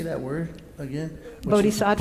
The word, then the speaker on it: Bodhisattva: Bodhisattva? Bodhisattva.